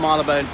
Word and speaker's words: Marylebone: then corrupted into Marylebone so it's still retinas Marylou bone but as one word but pronounced Marylebone see this danubius hotel